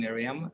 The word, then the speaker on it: Myriam: Well, welcome, Myriam. Am I Thank you.